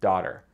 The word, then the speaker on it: daughter: Daughters, daughters, daughters, daughters. He's stopping it at the glottis. Daughter, daughter. Really, the real pronunciation of this word is daughter with the T sound.